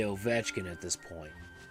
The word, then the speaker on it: Ovechkin: You have to know how to say Ovechkin at this point.